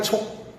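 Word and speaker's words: 數: 말이 많은 것은 이 숫자는 요 셈 숫자가 세 개의 발음을 가집니다. 발음이 세 개예요. 하나, 숫자라는 수, 셈수. 그 다음에 자주삭, 빽빽할 촉. 음이 세 개예요.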